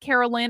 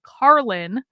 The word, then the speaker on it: Carlin: And even when you correct them and you say, no, I'm not Carolyn or Caroline or Karen or any other derivation of my name, I am Carlin, like George Carlin, but just spelled a little different.